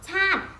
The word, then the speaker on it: ชาติ: ชาติ เห็น ไหม คะ ชาติ สระ อิ อิ เรา จะ ไม่ ออก เสียง เรา จะ อ่าน แค่